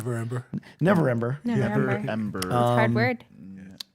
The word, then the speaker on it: Neverember: I always mispronounce that name. Neverember.